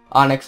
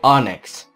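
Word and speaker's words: Onix: is a stone and it's pronounced the same way Onyx so I think that's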